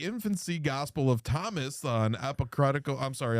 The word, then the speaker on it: apocryphal: This is inspired by the infancy gospel of Thomas, an apocryphal. I'm sorry. How do you say that word? Apocryphal gospel about the childhood of Jesus.